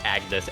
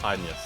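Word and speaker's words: Agnès: Oh no, they pronounce it the Anya's, or something like that. Because I was there for the announcement stream, and they were talking about the characters, and the localizers pronounced it that way.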